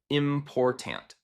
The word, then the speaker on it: important: For example, the word important should be stressed on the second syllable, important.